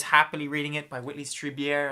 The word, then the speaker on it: Strieber: I was happily reading it by Whitley Strieber. I think that's pronounced as weird, kind of Jewish name.